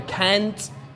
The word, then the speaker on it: can't: I can't do this so the can't you need to pronounce the T at the end soo and my hello